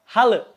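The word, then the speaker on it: halı: Nah, di bahasa Turki, kalau semisalkan ada huruf I tapi nggak ada titiknya, maka dibacanya E. Mirip seperti huruf E di bahasa Sunda. Oke? Contohnya halle.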